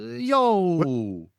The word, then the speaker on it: Yahweh: Yo. What be happening? Yeah. Yeah, what be happening? Yeah. Yeah, yeah, yeah, yeah. And that was the standard way for Greeks and Romans to pronounce Yahweh was Yo.